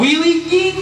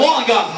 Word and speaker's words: Wollongong: And they'll be playing tomorrow in, I don't want to butcher the name. Wollongong. Wheeling? Wollongong. Walling shit? No, Wollongong. The gong. Is that correct? Wollongong? Yeah.